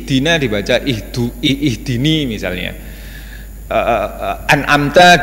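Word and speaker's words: أَنْعَمْتَ: dibaca itu ihdini misalnya an'amta dibaca Anam to Iya itu namanya lain itu namanya mengubah bacaan mengubah roket dari bacaan Fatihah dan pengubahan itu mengubah makna membuat makna jadi berubah adab ada ada yang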